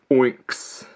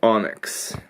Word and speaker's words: Onyx: I always pronounce it like Oinks. I was pronouncing it wrong until I heard the proper pronunciation on a video, Onyx.